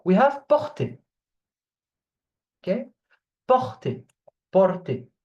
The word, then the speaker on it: porter: Okay, porter, porter. You remember that when a verb, when it's a verb and it ends with er, it's pronounced e. Okay, the er, porter.